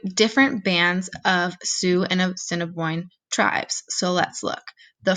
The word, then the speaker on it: Assiniboine: focused on two tribes these tribes are the assiniboine and the sioux we are going to practice how to pronounce their names because you might not think